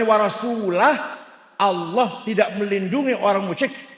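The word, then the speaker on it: ورسوله: Innallaha bari'um minal musyrikin wa rasulih. Salah. Allah tidak melindungi orang musyrik dan tidak melindungi Rasulullah. Salah. Tapi kalau bacanya wa rasulah, Allah tidak melindungi orang musyrik dan Rasulullah pun tidak melindungi orang musyrik.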